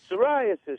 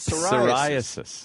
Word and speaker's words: psoriasis: Psoriasis starts with a P. Yeah, that stupid psoriasis.